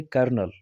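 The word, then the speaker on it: colonel: उसको पढ़ते हैं, और इसको उसी हिसाब से जिस हिसाब से फ्रेंच में पढ़ा जाता था कर्नल, उसी हिसाब से आज भी हम उसको पढ़ते हैं।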